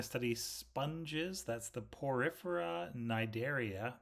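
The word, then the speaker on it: Cnidaria: sponges that's the porifera nidaria the C is silent those are going to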